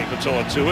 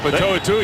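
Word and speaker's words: Pitoitua: And of course for the Titans, there's Ronnie Patoa-Tua at 6'8". Patoa-Tua, you've said it right twice today.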